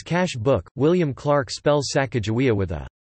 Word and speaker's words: Sacajawea: Clark journals in 1814, about the pronunciation of her name and how the Tz sounds more like a J.